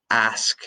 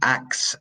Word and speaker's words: ask: Open Um, now, ask me a question. She asked me a question. This causes major problems. The pronunciation of pedir, of ask, ask, sk, ask. Ask me a question. Not ax me a question.